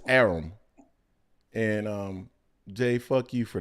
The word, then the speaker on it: Arum: I now know it's Arum.